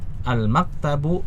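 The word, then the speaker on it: الْمَكْتَبُ: Al-maktabu, kita lihat ada alif lamnya, sehingga kita tahu bahwa ini tidak boleh kita baca al-maktabun ya, kita baca al-maktabu.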